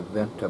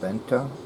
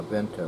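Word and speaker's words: Vanta: a Hightech laser a vent to Black laser a nephew William Marcel P said you mean Venta yeah Venta well you pronounce it better than I can wh Venta black shadow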